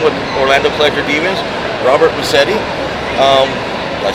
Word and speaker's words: Massetti: Robert Massetti.